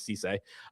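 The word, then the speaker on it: Cissé: It is not Sissy, it is Cisse.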